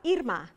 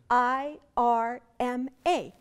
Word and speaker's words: Irma: letters is my name, I-R-M-A. It turns out the oldest and largest grocery store chain in that country is named Irma and pronounced like my name.